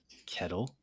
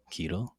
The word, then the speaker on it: Ketil: right of Inland Saga season two Iron Fist kettle keto no Kettle right that's how you say it